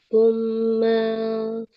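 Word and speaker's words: ثم: Tsumma sorofakum. Meme-nya nggak boleh panjang.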